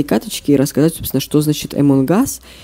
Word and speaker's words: Among Us: Итак, правильно читается это Among Us и переводится как «среди нас» с английского.